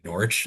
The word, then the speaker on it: Norwich: Memorial Museum out in Norwich. I should say Norwich. There is no way to not pronounce that R more because as Tony and I learned when we went up there, it is Norwich.